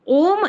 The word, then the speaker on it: ओम: ओम इति एक अक्षरम ये जो ओम है ये जो उच्चारण है जिसको बताया था यद अक्षरम है ना जो ये है ओम तो ये तीन अक्षरों आ उ और म है ना और इसके